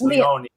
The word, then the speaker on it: Leone: Leone from now on. It is actually, everybody calls me Leone, but it's Leone. But either one is fine.